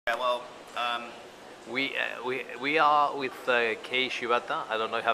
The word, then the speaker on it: Kei Shibata: Well, we are with Kei Shibata. I don't know if I pronounced it properly. Kei Shibata, yes.